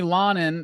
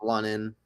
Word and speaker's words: London: Uh, Linen or London. I'm We were debating on how to pronounce it before the show started. It's London.